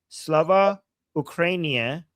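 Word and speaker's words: Слава Україні: I was told that you just have to make it rhyme with Urumia, okay? And I know Urumia, so now I will never forget. Slava Ukrainia rhymes with Urumia.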